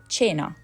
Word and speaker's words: cena: It can sound like Ch, like in cherry, before I and I. So cena, cena.